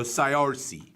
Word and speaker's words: Saoirse: how to spell that, I'd be that's C-O-R-C. Saoirse. There's S-O, so I-R-C. So Saoirse.